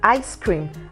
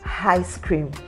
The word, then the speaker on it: ice cream: that then you have I as an ice cream and not I cream do you understand what